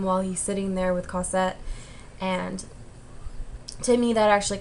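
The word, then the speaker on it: Cosette: and uh colette try to get together or cossette why did i say her name wrong but um she was helping marius get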